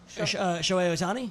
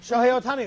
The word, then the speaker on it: Shohei Ohtani: How do you pronounce his first name? Otani. Shohei Ohtani? Shohei Ohtani.